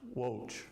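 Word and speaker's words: Łódź: Um, Ratagast train station is in Wo. It's spelled L O DZ, but it's pronounced Wo.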